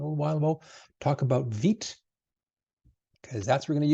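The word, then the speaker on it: Vite: vit which is the the French way or the the France way of pronouncing fast or quick so it is vit and we'll use vit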